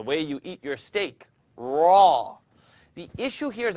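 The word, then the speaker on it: ر: Raw. The issue here is I don't want you to O your mouth. I'd rather you not do this. Raw. Don't use your lips to pronounce raw.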